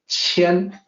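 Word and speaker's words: 乾: The name for this particular hexagram is Qian. And I have the pinyin romanization next to the older Wade-Giles romanization system. So the Q is pronounced like CH, Qian.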